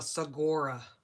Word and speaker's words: saguaro: Saguaro or saguaro, I think the G is silent But we have a whole side of a mountain over here.